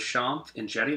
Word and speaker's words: Shanth Enjeti: For those of you guys just tuning in, my name is Shanth Enjeti. That's how you pronounce that name down there.